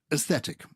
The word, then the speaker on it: aesthetic: know what i mean so aesthetic you're not actually pronouncing the a are you bread no you're